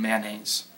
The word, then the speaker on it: mayonnaise: Alabama lawyer coupon mayonnaise which I just realized that means I don't pronounce the O in mayonnaise even though I usually